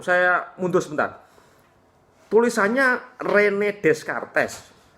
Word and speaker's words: Descartes: mundur sebentar tulisannya Rene Descartes tapi ini orang Perancis es belakang luluh maka membacanya manusia punya rasio kojito